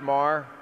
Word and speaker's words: Maher: It's pronounced Mar.